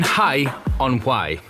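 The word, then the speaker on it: Hay-on-Wye: on to be honest we're here in Hai on hwai that is the correct pronunciation because Google said it was so at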